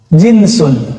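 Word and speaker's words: جنس: jenis dari bahasa Arab jinsun jins pakai jeans Pak itu beda lagi ya jans bacanya Ya kalau ini jinsun Ja Jim Nun jenis bahasa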